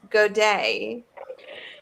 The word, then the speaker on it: godet: How do you say it again? Godet. That sounds like you're saying good day.